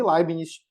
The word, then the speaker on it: Leibniz: É difícil ficar mudando de pronúncia para a gente ficar falando o nome da pessoa. Então, eu vou chamar ele de Leibniz, meio aportuguesado, doravante, ok?